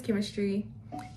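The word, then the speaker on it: Kemistry: My name is Chemistry, spelled with a K.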